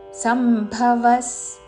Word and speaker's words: సమ్భవః: ద ధామ్యహం సంభవ సర్వభూతానా సంభ మహాప్రాణాక్షము భసర్గ తర్వాత సతో పదం మొదలైనది కాబట్టి సచ్చారణ సంభవస్ సర్వ భూతానాన్ మహాప్రాణాక్షము భూ అనుస్వారము ఉచ్చారణ